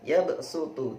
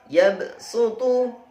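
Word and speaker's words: يبسط: Baiklah, selanjutnya adalah yabsutu. Ditulis dengan huruf shad, tetapi harus dibaca dengan huruf sin. Yabsutu.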